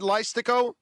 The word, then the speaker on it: Leistikow: Did I pronounce it right, Chad? Leistikow?